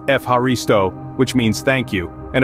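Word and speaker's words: Ευχαριστώ: Then there is Efharisto, pronounced Efharisto, which means thank you.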